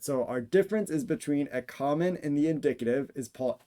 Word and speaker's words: ἔχομεν: variant with the word ěchomεν or єхомен. You'll notice that I pronounce those two words differently from one another. Ěchomεν with the omicron, o little, o micron. I do as a short ah sound, and as the subjunctive